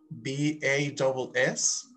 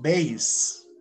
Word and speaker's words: bass: Like in here, you see, the musical instrument, B-A-S-S, is pronounced bass. And the fish, the type of fish, is spelled like the instrument, B-A-S-S, but the pronunciation is bass.